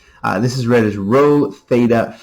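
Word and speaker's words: rho: Uh here, these are pronounced as row. These these are Greek letters.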